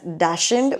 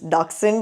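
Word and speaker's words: dachshund: I know back in India, we आर all used to pronouncing it एस डैशिंड। But apparently the German ore the original pronunciation is डारसंड।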